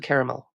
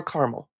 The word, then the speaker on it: caramel: taste caramel yes and salted caramel or caramel we can pronounce it both ways so you don't actually